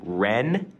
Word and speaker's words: Rennes: And two different Rennes, N-N, Rem. I-M. I know, two very, very close, but not close enough.